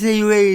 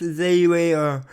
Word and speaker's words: Zayway: Hey guys, it's Zayway again, and firstly, yes, it's pronounced Zayway, Zayway, that's how you pronounce it, because people were confused.